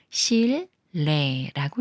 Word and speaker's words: 실내: 꾸며주는 말에 리을 받침이 니은을 만나면 니은이 리을 소리인 르로 바뀌어서 실내라고 읽어요 한 가지 더 말씀드리고